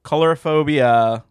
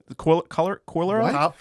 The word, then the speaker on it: coulrophobia: So Coulrophobia, I think that's how you pronounce it. Warning for this one. Coulrophobia.